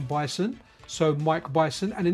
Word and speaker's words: Bison: Bison rhymes with Tyson.